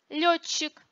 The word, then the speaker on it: летчик: Сочетание зубных «д», «т» и следующих за ними «ч», «ц» произносится как долгие «ч» и «ц». Летчик, докладчик, вкратце.